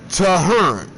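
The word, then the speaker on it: Tehern: spelled t e h e r n but pronounced toar and in the place I was at when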